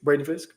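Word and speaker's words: Fiske: Braden Fisk?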